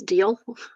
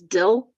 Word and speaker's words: deal: Okay, one thing I have with this whole family is that they cannot pronounce deal. They pronounce it as dill.